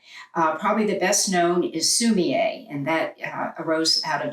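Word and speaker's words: 墨絵: Sumi, S-U-M-I, means ink stone, and then there's a hyphen with the letter E, which is pronounced A, and that is ink stick. So it's ink stick and stone painting, sumi-e.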